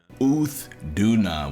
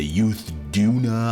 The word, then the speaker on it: Uth Duna: of the Scarlet Forest uuna U Duna which is way better than anything I said yesterday I I said all kinds of crap yesterday I said youth Duna I said youth Duna